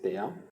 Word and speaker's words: THEIA: On va aller dans la barre de recherche pour naviguer et chercher la plateforme TEIA, d'accord? Ça s'écrit comme ça, T-H-E-I-A, c'est TEIA.